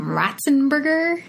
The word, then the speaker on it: Ratzenberger: His name is John, and I believe he pronounced his last name Ratzenberger.